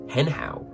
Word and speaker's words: 很好: probably say something like hen hao. It's close enough to the pronunciation of the Chinese to be intelligible, but it isn't quite what a native speaker would sound like.